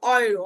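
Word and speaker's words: Euro: তাহলে যে এবং উ যখন একসাথে থাকবে তার উচ্চারণটা হবে অয়ে, যেমন অয়রো, অয়রো মানে ইউরো, ঠিক আছে?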